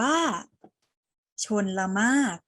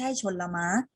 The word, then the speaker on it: ชลมารค: ตัว อย่าง ไป แล้ว อ่าน ว่า ชน ละ มาก ชนมะ ปิด ร เรือ เหลือ แค่ ม.อ นะ คะ อ่าน ว่า ชนมาก ไม่ ใช่ ชน ละมั้ง มา ออก เสียง ประโยค